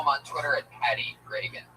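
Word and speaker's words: Regan: It's announced like Ronald Reagan. Pat Reagan, but there's no A in that. Follow him on Twitter at Patty Reagan.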